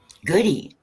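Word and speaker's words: Gaudette: what score are we playing today hi goody oh hi hey hi goody yeah that's how they pronounce it down here i was lost when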